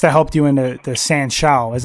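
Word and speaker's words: sanshou: know that must have helped you in the san shou is how you pronounce it yeah Chinese chow total contact fighting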